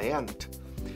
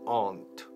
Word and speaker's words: aunt: She doesn't know my aunt. Two pronunciations for tía. Aunt and aunt. Se oyen los dos en el mundo anglo de habla inglesa. And yo digo aunt, casi como hormiga, aunt.